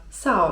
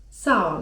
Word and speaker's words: sağ ol: To spokojnie możecie też używać słowa: sağ ol (czyt. saol) sağ ol (czyt. saol) Dosłownie gdybyśmy chcieli przetłumaczyć oznaczałoby to 'bądź zdrów'.